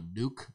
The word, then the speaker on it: nuc: There are people who sell what are called a nuc. A nuc is it's spelled N-U-C. Yeah. It's short for nucleus.